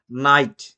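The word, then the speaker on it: knight: ঠিক একই রকম ভাবে নাইট, নি, নিট, এগুলি কেটা সাইলেন্ট রইল।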